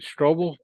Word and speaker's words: Strobel: Well, did I pronounce the name right? Strobel?